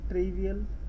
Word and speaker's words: trivial: TFTP stands for Trivial File Transfer Protocol, काफ़ी लोग ट्राइवल भी बोलते हैं, है इसका प्रोनाउंसिएशन ऐसा ही, ट्रिवियल file transfer protocol, TRIVIAL।